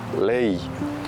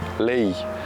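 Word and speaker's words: lei: leaves and such uh the way you want to pronounce that word is Le so focus on the E and the E right the letter e is pronounced as a e and the letter I pronounced as a e so a like that LE how is it often mispronounced if you're from here you probably know often it's Le oh such a nice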